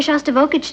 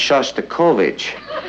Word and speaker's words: Shostakovich: He's taking me to hear Shostakovich tonight. Honey, I think that's pronounced Shostakovich. We'd like to meet Eddie.